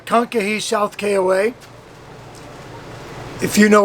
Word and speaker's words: Kankakee: We are just south of Chicago, and we are in a KOA, and I think it's pronounced Kankakee, but it's Kankakee South KOA.